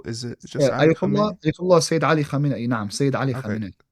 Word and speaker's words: Ayatollah Sayyid Ali Khamenei: Ayatollah Sayyid Ali Khamenei.